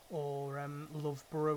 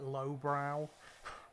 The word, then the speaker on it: Loughborough: It's like Edinburgh or something, or Loughborough would be like lowbrow.